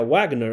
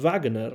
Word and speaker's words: Wagner: cierto, cuando era pequeño siempre pensaba que sería Wagner, ¿no? Con la W inglesa, igual que Wolf en el episodio lunar, pero evidentemente la pronunciación tendría que ser Igor Wagner, ¿no?